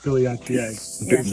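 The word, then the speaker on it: billietiae: Billiatier.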